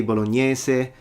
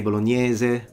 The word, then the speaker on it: bolognese: The S, you can say bolognese, you can say bolognese, they're both fine, it depends on which region you're from, but spaghetti bolognese, not spaghetti bolognese.